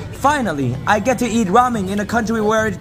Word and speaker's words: ramen: I get to eat ramen in a country where it came from also it's pronounced Ramen not Ramen then we went to